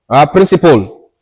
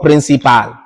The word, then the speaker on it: principle: This word is pronounced principle, not principal.